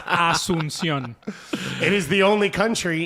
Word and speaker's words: Asunción: Did I say it wrong? Yes. Say it. Asunción. I was close. I thought you were pretty close. There's no an H there. Asunción. No. It's Asunción.